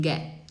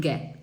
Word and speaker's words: get: We can get. We can get, tá? Geralmente eu não pronuncio o T.